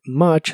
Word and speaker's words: much: pronuncia como a How la u de much se pronuncia como a much y la o